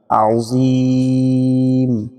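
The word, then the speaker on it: عظيم: আজিম। এখানে যাতে জিম না হয়।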